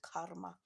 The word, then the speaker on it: karma: you normally call karma karma is a karma to be pronounced the r is the silent karma um so what you